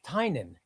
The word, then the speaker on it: Tynion: That's how you pronounce If you If you watch anybody who's a friend of his pronounce his name, it's Tynion. It is Tynion.